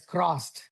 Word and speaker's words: crossed: I heard it as closed. Right. Closed is different from crossed. Right. Crossed. Crossed. Yeah. R. Yeah. Two Rs. Yeah. Yeah. Two Rs. Right. It's different. Two Rs. Crossed. So now let's read it again.